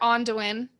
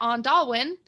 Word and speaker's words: Onduin: But you can find me under Onduin everywhere, or sometimes as Nolan pronounces it, Ondalwin. But it's Onduin. But it is Onduin.